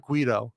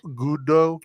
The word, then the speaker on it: Guido: how you pronounce it is it gudo am i saying it right no it's definitely not guido yeah incidental carl says yeah the gudo gudo car que anyone